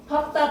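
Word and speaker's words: 밟다: 근데 단 밥다, 밥고, 밥지에서만 밥으로 발음해.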